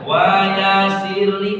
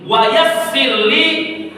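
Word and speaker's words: وَيَسِّرْ لِي: Jadi bacanya dengan penekanan gak boleh baca wayasirli eh gak boleh. Maka dibaca dengan penekanan ada tasdid di atas huruf sin. Wayassirli doa Nabi Musa waktu Nabi Musa nak bertemu dengan Firaun.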